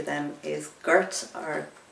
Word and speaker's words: Gort: So the 12th letter then is Gort or Gort. It's G-O-R-T, and in Irish we pronounce an O much more like a U, so we say Togaboge,